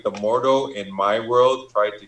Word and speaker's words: Mordo: Okay, last thing I want to I'll speak about is Was it Mordor? How do you pronounce his name? Baron Mordo. Mordo.